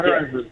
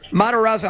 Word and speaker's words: Matarazzo: Am I pronouncing your last name correctly? Is it Matarazzo? Okay. Yeah, Matarazzo. Matarazzo.